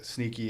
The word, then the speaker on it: Sneak: like That's like that's TC5FC is like the shit that kind of spawned off like the Sneaky and Hughes. Yeah. I always pronounce it Sneaky, but it's Sneak.